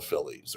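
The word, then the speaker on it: filidh: Like the the students who ultimately became the Brehens were called the Phillies or the F I L I DH. You don't pronounce the DH.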